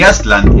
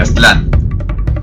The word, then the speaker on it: Aztlán: del náhuatl es que las palabras en ese idioma tienen el acento fuerte en la penúltima sílaba. Por ello, si lo han notado en videos de este canal, pronuncio Tenochtitlan en lugar de Tenochtitlán, Teotihuacán en vez de Teotihuacán y Aztlán en vez de Aztlán.